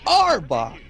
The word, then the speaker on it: Arbok: announcer says arbok it's arbok no he barely pronounces the are it's like a back pack i back yo